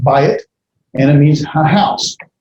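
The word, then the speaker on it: בית: house that's the uh notice right there you have uh the diphthong buy it it's not dual it's just a diphthong so it's pronounced by it and it means a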